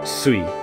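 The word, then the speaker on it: すい: But the Chinese word for water in Chinese is sui. So in Japanese it's sui. The shui became sui because they don't pronounce Chinese in the normal Chinese way. So it becomes sui. That's the on reading. That's a more Chinese way.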